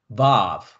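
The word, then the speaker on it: וו: 히읗 발음이었죠? 네. 그 다음에 바브.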